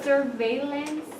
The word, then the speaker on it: surveillance: Surveillance. Yeah, surveillance, right? Why? Because it has L, and you guys don't read something that is there.